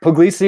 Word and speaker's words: Puglisi: pronounce your name well i think poglisi is a very excellent pronunciation it's kind of a